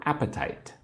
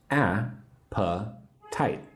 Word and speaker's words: appetite: I'm asking about your appetite. Say the word appetite with me. 3 syllables. A-pa-tite. Appetite.